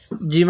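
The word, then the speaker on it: ج: সান এরকম ভাবে পড়বো জিম আলিফ দুই জবর জান এই হা টা একটু নরম করে পড়বো জিমটা একটু শক্ত করে পড়বো জিম আলিফ দুই জবর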